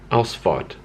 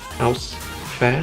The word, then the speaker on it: Ausfahrt: My favorite thing is that exit is pointed by a little sign that says Ausfahrt, and I think you're supposed to pronounce it as Ausfahrt. I think you pronounce it Ausfahrt, but who's going to change saying Ausfahrt?